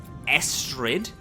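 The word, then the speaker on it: Esd: just yell in to is it ASD or Esther cuz I I think we've said both so it's estd it's spelled ASD but with an e instead of an A okay I just wanted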